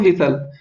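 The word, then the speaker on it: whistle: दोस्तों इसको हम लोग क्या पढ़ते हैं, इसको पढ़ते हैं हम लोग विसल। तो दोस्तों हमारा सही आंसर क्या होगा, देखिए हमारा H भी यहाँ पर साइलेंट हो रहा है। ठीक है, और T भी साइलेंट हो रहा है। ठीक है, तो विसल को हम पढ़ेंगे तो ये साइलेंट होगा, H एंड T इसका सही आंसर हो जाएगा।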